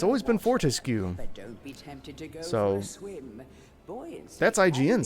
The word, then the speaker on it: Fortesque: __ ] you they say he says Daniel fortesque twice in the review which like if you google Fortescue like how to pronounce it I guess fortesque might technically be